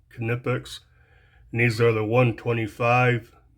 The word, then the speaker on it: Knipex: And yeah, I guess that's how it's pronounced, with a K, Knipex.